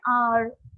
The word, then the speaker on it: hour: After an hour of study, we drink water to stay hydrated. So here before R we have used N. Why? Because here H is silent.